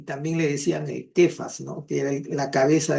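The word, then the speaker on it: Κηφᾶς: español le han puesto cefas, pero si tú vas al griego aparece la letra capa y se pronuncia quefas.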